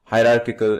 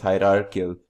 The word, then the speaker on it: hierarchical: Finally, we have, penultimately we have as our fourth example of inheritance called hierarchical inheritance. Pardon my mispronunciation, it's hierarchical inheritance.